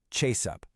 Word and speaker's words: chase up: The stress falls on the first word, chase up. Listen one more time. Chase up. When you say it like that, it just flows, like a single, confident action.